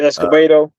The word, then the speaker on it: Escobedo: The Escobedo. Yeah, That's going. that's how you say it, Escobedo.